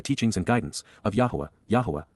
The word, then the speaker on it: Yahowah: and guidance of Yahowah, Yahowah, the proper pronunciation of the name of Eloah, God as directed in